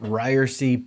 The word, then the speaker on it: Ryerse: this is ryersy this is the it's pronounced ryersy podcast we are live on facebook right now